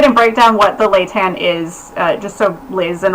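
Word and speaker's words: Laetan: Is it pronounced Leitan?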